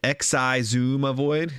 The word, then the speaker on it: Xisumavoid: about my opinion um it's pronounced X I zoom avoid uh I wouldn't mind